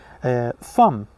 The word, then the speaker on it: thumb: It's not bomb, the B is silent. It's climb. When you climb a mountain, climb. Comb, okay, comb. Thumb.